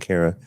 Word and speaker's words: Kara: Now here's the other thing, Tony and Kara. By the way, Tony, it's Kara rhymes with Sarah.